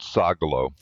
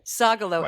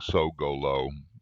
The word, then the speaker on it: Sogolow: I say it Sagalo the way my grandparents did, right? Sagalo. And your kids say and my best I have two guesses. They're only my hypothesis. I need to ask them. One guess is that it's because they got tired of people saying how do you spell that? So saying so go low, you know, makes it clearer.